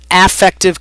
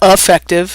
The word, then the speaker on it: affective: to understand number one affective commitment remember that word and how it's pronounced it's not effective it's not effective it's affective and so you know